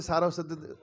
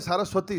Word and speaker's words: सारस्वते: प्रभुपाद के प्रणाम मंत्र में नमस्ते सारस्वती, नमस्ते, कई लोग कहते हैं सारस्वती, सारस्वती नहीं, सारस्वते, सारस्वते देवे, देवी नहीं, देवे, सारस्वते देवे, और नमो योंग नहीं, नमो ओंग।